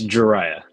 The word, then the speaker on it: Jeriah: And then uh we got Jer How do I say your name? It's Jeriah.